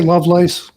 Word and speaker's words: Lovelace: a special guest loveless um am i pronouncing that correctly i say love lace but yeah okay lovelace okay lovelace um